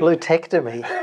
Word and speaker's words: LuTectomy: was it called luteectomy luteectomy that's right so it's a take on a prostectomy so prostectomy is when